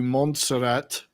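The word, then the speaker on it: Montserrat: anywhere but you did go with them to monserat so that's how you pronounce it I could never know it's F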